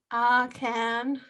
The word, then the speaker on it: Ahcan: I just don't want to say his name wrong. Okay, it's Roman Akan.